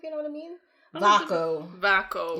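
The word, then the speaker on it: Vaako: Vaco. Yes. 2 syllables, but yes. He's Lord Vaco and she's Dane Vaco.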